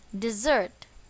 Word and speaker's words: dessert: for a dessert recipe where is the stress on the second syllable dessert dessert here means a sweet